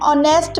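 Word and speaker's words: honest: Last में है इसका his father is एन ऑनेस्ट businessman. यहां पर भी एच साइलेंट है और ओ के मुताबिक यहां पर एन लगाया गया है।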